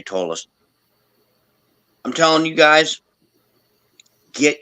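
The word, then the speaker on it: Ptolus: that's Tois with Tois with a silent P isn't it P yeah p t o l u s t i I saw you men is how it's yeah tallus is how it's pronounced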